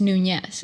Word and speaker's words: Nunes: And it's Nunes. So a lot of people think that's really what it's pronounced, but I'm like, no, it's a little different.